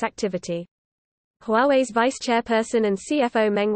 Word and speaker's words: Huawei: name recognition campaign instead to encourage a pronunciation closer to Huawei, using the words Huawei.